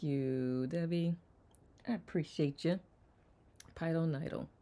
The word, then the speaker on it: pilonidal: Pilonidal. Nidal. Is that an I or E? E sound.